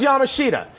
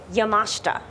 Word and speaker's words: Yamashita: no this isn't right I thought it was Yamashita and then right before we go on you're like oh by the way schmuck you've been saying it wrong the entire time how do I pronounce it yamashta yamashta yes I'm calling by the